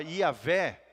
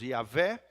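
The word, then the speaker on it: Javé: nome honroso de Deus, Yavé, a Bíblia nos ensina, né, os rabinos acreditam que quando esse nome de Deus é pronunciado, é como se fosse um sopro, uma respiração, uma espécie de Yavé, Yavé.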